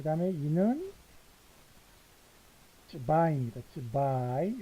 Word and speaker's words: zwei: zwei. 요것도 I 발음이죠.